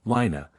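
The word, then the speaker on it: laighne: blue green iron heads called Lane pronounced Lina and as they were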